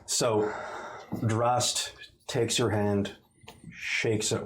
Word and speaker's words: Drast: yeah, King Drast. Drast. Drast. With a hard ST.